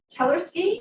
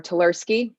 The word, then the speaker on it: Tersi: of the bill representative tersi I'm hoping I pronounced that right welcome to the election law thank you very much Madam chairwoman you pronounced it perfectly my name is tersi and I represent Hillsboro